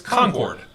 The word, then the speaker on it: Concord: exact same way but it's pronounced a little different in north carolina it's concord is kind of how